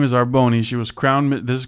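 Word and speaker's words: R'Bonney: she's um her name is it's hard to pronounce it I guess it's arboni it's literally our apostrophe b-o-n-n-e-y arboni you're showing me that as if I was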